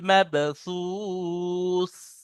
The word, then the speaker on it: مبثوث: কাল ফারাশিল মাবসুস, كالفراش المبثوث বা উচ্চারণ করে মাব, মাবসুস। مبثوث মাগ নয়, বা পড়েন, মিম বা জাবার মাব।